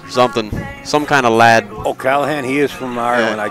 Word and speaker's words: O'Callaghan: an Irish lad something some kind of lad oh Callahan he is from Ireland I just spoke with